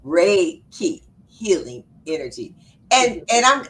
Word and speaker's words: Reiki: know you do uh Reich Reich okay let me pronounce it right reiky Ray key oh Ray key healing energy and and